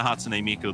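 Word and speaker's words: Hatsune Miku: The Hatsune Miko there. Yeah, just I hope I pronounced that correct.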